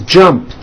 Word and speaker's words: jumped: So when you put it in the past tense, all you do is add a T. So jump becomes jumped, with a T sound at the end. Jumped. Of course, the word is spelled with an ed ending. It's just pronounced as a T. Jumped, like that.